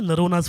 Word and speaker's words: Noronha: Yeah, I'm House of Noronha everywhere. House by HOUSEOF, NORONHA. Yeah, rhymes with Corona, I always say.